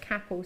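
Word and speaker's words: Capão: m is the Capal M no which is pronounced Capal c a p o c a p a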